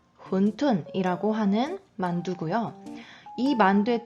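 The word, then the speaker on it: 馄饨: 헌 툰 후원 툰 훈 둔 이라고 하는 만두 구요 2만대 특징은 국물 탕 있어요 국물이 있는 반도 이게 군 톤이라고 하고 우리에게는 홍콩식 발음이 조금 더 익숙하실 거에요 완탕 완탕 면이 들어가며 완탕면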